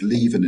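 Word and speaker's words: Lieven: Is it Leven?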